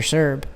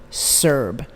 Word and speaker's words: Sirb: It's Greg, obviously how it's spelled, Greg, Sirb, and that's S as in Sam, I, R, B as in boy. Greg Sirb. And you will find a lot of stories about this man.